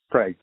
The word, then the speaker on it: Craig: Craig. There's a representative in Virginia that spells it the same way but pronounces it Cree.